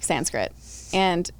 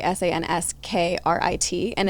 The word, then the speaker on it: Sanskrit: you know s-a-n-c sorry s-a-n-s-k-r-i-t and it's actually pronounced like sanskrita or something like that and so it's you